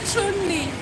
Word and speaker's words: Chun-Li: It's really Chun-Li. Everyone in America that I know says Chun. Chun. Not Chun. They say Chun. It's Japanese name. And when you play Street Fighter, it says Chun-Li.